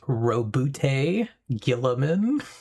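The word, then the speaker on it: Roboute Guilliman: So, Vex, that one is pronounced Robute Gilliman. I'm always surprised by how strongly the end of it is actually pronounced.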